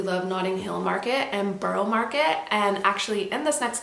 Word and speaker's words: Borough Market: we headed over to Borough Market. I think it's actually pronounced Borough Market, not Borough, but anyways, I digress.